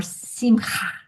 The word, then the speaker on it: Simcha: yes, and or Simcha. Did I say it right? Simha. Yes. Ah, Simha.